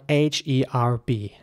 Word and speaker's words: herb: to discuss is spelled h-e-r-b now this time this is quite interesting because in British English the H is basically pronounced so it's herb it starts with the her sound with an H sound